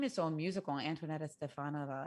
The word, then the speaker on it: Antoaneta: name is own musical antoinette stefano it's like both they both uh it almost like it's a rhyming it's it's a it's a very beautifully constructed name four syllables it is a it